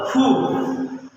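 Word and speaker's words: ふ: হু তাহলে হাি হু না হের উচ্চারণ হলো ফু তাইলে হাি ধু হে হু যা জাতি ভাষায় যা ব্যতিক্রম পাওয়া যাবে তাই আমাদেরকে মুখস্ত রাখতে হবে।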